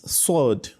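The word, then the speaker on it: صاد: First is sword. Say sword. Sword, You can see it has similarity with letter sin, but they are still different. Okay? Sin is different from sword. Okay, you can see sword it comes out heavily because while pronouncing sword, the back of your tongue rises up, whereas in that of sin, it doesn't do so.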